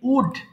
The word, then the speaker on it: would: উচ্চারণটা খেয়াল করবেন এটাকে উল্ড হবে না এটা কিন্তু এল এর উচ্চারণ হবে না এটা হবে simply উড উড সো উড হবে